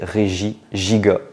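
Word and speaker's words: Regigigas: roi géant voilà giga donc le S ne se ne se prononce pas c'est régie giga voilà Pokémon suivant alors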